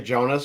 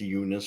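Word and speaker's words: Joonas: I think so I I'd always say Jonas but I think it's unas or yui Y Saros so Unice I'll go Unice forward Mark Castell who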